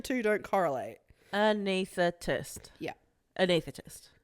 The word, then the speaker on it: anesthetist: Yeah, but it's not about being able to pronounce every single letter in the word, right? You've got to ignore how some words look versus how they sound.